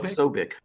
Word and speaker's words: Posobiec: and how do you pronounce the guy's name? Jack Posobiec? Posobiec, Same thing.